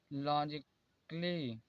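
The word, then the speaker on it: logically: जैसे देखिए म्यूजिकली, double L वाई के बाद ए आया है, इसलिए यहाँ पर ए साइलेंट है। यहाँ पर म्यूजिकली, म्यूजिकली नहीं पढ़ा जाता है, यहाँ पर फिजिकली, लॉजिकली।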